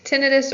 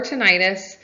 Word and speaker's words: tinnitus: options tinnitus is pronounced tinnitus or tinnitus you'll hear a lot of audiologists say tinnitus when you say tinnitus it sounds like the itis part is an inflammation and tinnitus is not